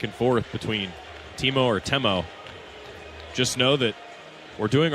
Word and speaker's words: Temo: and he went by Timo there. And he told the Texas staff when he arrived that he wanted to go by Temo, different pronunciation.